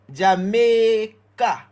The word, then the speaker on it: Jamaica: Jamaica, the AI is saying A. Jamaica. But does anybody know why the AI is saying A? Think about the word Ray or even main.